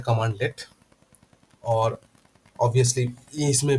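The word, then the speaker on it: cmdlet: Power shell में जो भी कमांड्स हम यूज़ करते हैं उसको कहते हैं CMD लेट। मतलब इसका प्रोनाउंसिएशन होता है कमांड लेट।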